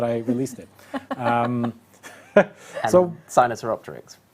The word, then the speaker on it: Sinosauropteryx: And so Sinosauropteryx, right? Sinosauropteryx. Yeah, yes, thank you. They are tough to pronounce.